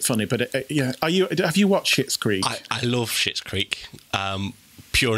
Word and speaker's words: Schitt's Creek: Well, the mum out of Home Alone, who is called Catherine O'Hara, who nowadays you'll probably know from Schitt's Creek. Mm-hmm. Now, that is how you say it.